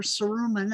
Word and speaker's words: cerumen: ear wax or your cerumen as my mother told me it's pronounced is an immune response